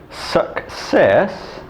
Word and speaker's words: success: So, for example, success, the first C is K and the second C is S because it's followed by an E.